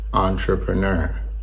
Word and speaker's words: entrepreneur: Try saying entre like you're ordering a fancy coffee, and then add the preneur part at the end.